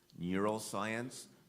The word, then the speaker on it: neuroscience: contest number 76 Sophia your word has two correct pronunciations Neuroscience neuroscience Neuroscience is am I